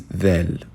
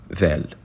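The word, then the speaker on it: ذال: For this letter, it's similar to the sound of TH in the.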